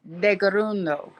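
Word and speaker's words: Tkaronto: yeah it's tease are in mohawk teas are pronounced as d's and k's are and anyway um it's de garundo that's that's how we say toronto but we're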